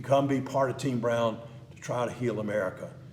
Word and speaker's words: Broun: o u n it's brown with the u instead of a w in fact lanier when